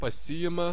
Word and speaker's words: pasiima: of these prefixed verbs, the stress will be on the reflexive particle si. Pasiimti, in the infinitive not. In the infinitive the stress is on the root, but in the second basic verb form, pasiima, susiima, nusiima, apsiima, atsiima.